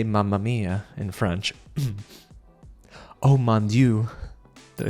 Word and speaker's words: Oh mon dieu: Oh mon dieu.